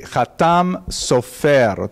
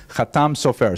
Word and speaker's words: Hatam Sofer: Chatam Sofer, Sephardi pronunciation. Obviously, some of the consonants are slightly different, and the emphasis tends to be on the last syllable.